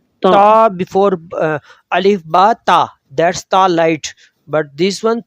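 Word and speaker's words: ث: That's ta light. But this one tha. ta, T-H. ta. Thailand. Say with your mouth Thailand. Country. Thailand, Thailand. Tha. T-H. First two letters. Use Thailand, pronounce this tha.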